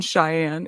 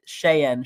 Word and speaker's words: Cheyenne: like the Native American Cheyenne it's spells entirely differently so oh my God no yeah he's an idiot no like shayen Cheyenne not cheyen Cheyenne like you know what